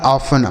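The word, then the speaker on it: often: कुछ शब्द ऐसे होते हैं जिसमें कुछ लेटर साइलेंट होते हैं। उन्हें नहीं पढ़ा जाता है सही उच्चारण करने पर। ठीक है? तो यह लिखा ऑफन मतलब होता है अक्सर।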